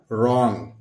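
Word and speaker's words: wrong: ये इसका सरिस है रंग डब्लू का उच्चारण हम नहीं लेते हैं सीधे-सीधे रा हो गया और ये ग लिख देते हैं और ऊपर बिंदी लगाते हैं क्या हो गया रंग इसी को हम इनकरेक्ट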